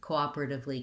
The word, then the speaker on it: cooperatively: same as cooperate and then after the stressed syllable op is where cooperatively gets difficult because we have the relatively so